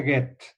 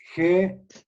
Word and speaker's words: Goethe: El segundo se pronuncia Goethe. Y se escribe G-O-E-T-H-E. Goethe.